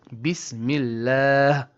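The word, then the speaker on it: بسم الله: So, we have to say bismilla bismilla with a ha.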